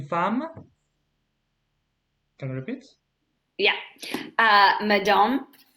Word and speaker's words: femme: Is une femme. So femme is like F-A-M in English, okay? Femme. Femme. Like, Femme. voilà. Femme. So, is une femme.